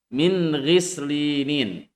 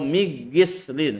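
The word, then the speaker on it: مِنْ غِسْلِينٍ: Contoh, min ghislinin. Namanya juga izhar. Cara membacanya harus jelas. Min ghislinin. Jangan baca min ghis atau migislin, salah. Tapi nun sukunnya harus dibaca jelas.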